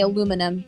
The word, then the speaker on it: aluminum: uh for the record the uk granted albuminium while we americans say aluminum so yeah so don't